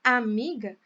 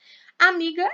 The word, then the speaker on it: amiga: Amiga é uma palavra feminina, começa com A, só que não é o a sílaba mais forte, né? Não é a primeira sílaba mais forte. A mais forte é o mi aqui.